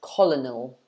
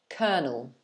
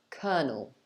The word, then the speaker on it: colonel: might think it's pronounced colonel or something like that but actually it's pronounced like this kernel kernel so it's two syllables and the first one is ker and the second is null kernel kernel so i don't